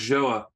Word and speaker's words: Joa: So yeah, it's pronounced Joa, and my co-founder's Korean, and it's a word